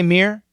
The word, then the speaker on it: mirror: syllables Mirror miror Mirror we should sense the two syllables but I do agree when we say it fast it is kind of possible to just say mirror look in the mirror